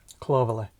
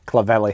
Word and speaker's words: Clovelly: Did you pronounce it right? Clovelly. No. Clov-el-ly. Clovelly.